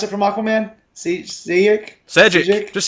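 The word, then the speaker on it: Šejić: How do you pronounce it from Aquaman? Sejic?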